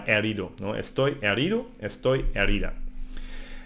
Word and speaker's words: herido: No, be careful because in the H sound in Spanish it's silent, so it's herida or herido.